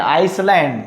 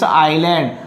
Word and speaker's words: island: Don't say island, Iceland. It's island.